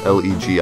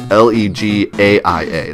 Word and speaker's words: Legaia: Legia, I think. Or no, it's Legaia. That's how it's spelled.